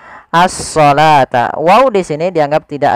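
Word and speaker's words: الصلاة: ini bukan asata nah ini jangan kita baca dengan asalawata tapi di sini kita bacanya dengan asalata wau di sini dianggap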